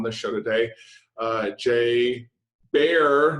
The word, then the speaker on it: Baer: Uh Jay Bear, not beer, bear, right? Like the animal either really is appropriate.